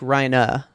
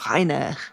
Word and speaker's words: Reiner: I say Reiner, but it's like Reina, right? They say it like with a German accent, so Rainer. They just, like, Reina. Yeah. do that soft R at the end.